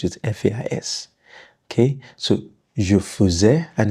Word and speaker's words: faisais: Okay, so je faisais, and it's pronounced E, not faisais.